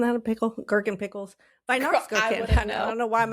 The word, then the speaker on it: Weihnachtsgurke: It's spelled like, I'll just spell a little bit of it. Okay. W-E-I-H. W-E-I-H. W-E-I-H. Vi.